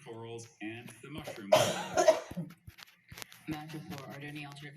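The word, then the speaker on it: madrepore: Madripoor. Are there any alternate pronunciations? Just the one, Madripoor. Madripoor. Madrepoore.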